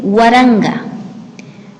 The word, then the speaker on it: Waranga: También es importante saber o recordar que en Quichua las palabras todas son graves. Por lo tanto, la pronunciación siempre va a tener su mayor fuerza en la penúltima sílaba.